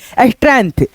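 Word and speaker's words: strength: जैसे यहाँ पे इसको क्या पढ़ेंगे स्ट्रेंथ, यहाँ पे जी जो है ना साइलेंट रहेगा, इसको पढ़ेंगे हम लोग स्ट्रेंथ। क्या पढ़ेंगे दोस्तों स्ट्रेंथ।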